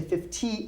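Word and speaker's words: fifty: say 20 20 good now 50 I almost put it like a D 50 I don't say 50 I say 50 50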